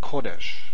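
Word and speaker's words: קֹדֶשׁ: How about kodesh? Kodesh. And again, we have stress in the first syllable and we have a segol here.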